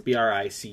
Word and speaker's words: Bricusse: It's, oh gosh, it's like Bricuse? Leslie Bricuse. I don't know how you say it. It's Bricusse.